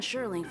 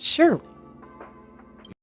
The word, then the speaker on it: Sherling: He was with Wen Sherling from the Department of Implement Arts. Oh, it's pronounced Shirley.